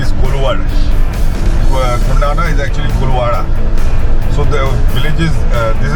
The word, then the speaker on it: Koluwara: This is Koluvara, mispronounced as Kondana by the Buddhists.